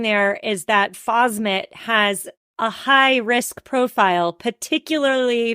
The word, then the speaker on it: phosmet: you not it and you pronounced it correctly phosmet which is an Organo